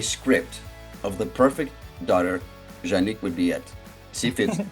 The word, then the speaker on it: Juanique: we're like twin souls janique which rhymes with unique and boy is she